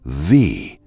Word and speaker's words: ye: You have probably said it a thousand times, and every time you said it wrong. Because "ye" does not spell "ye." It spells "the." That y at the front is not a y at all. It is a misread thorn, a letter written as